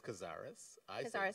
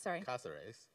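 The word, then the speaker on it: Cázares: I should say that much of my family says Cazares. Cazares, which is a more authentic pronunciation, because personally I wanted to get rid of an anglicized pronunciation in my family.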